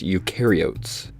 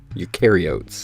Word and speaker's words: eukaryotes: or are you sure you're a guide it's pronounced eukaryotes eukaryotes eukaryotes yes eukaryotes all right here's another here's